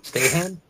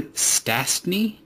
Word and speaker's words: Stastny: How do you say that? Stahan? No, Peter Stastny. Oh, Stastny? I think that's how you say it.